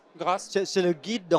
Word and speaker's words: GRACE: On prononce en français d'ailleurs ou en anglais, c'est GR Grâce.